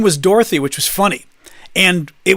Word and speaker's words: Dorothy: us because she's like, my name's not Dorothy. It's Dorothy, like three syllables. And all of the rest of us grew up with like Dorothy is like two syllables, more or less. It's like 2.5 at best.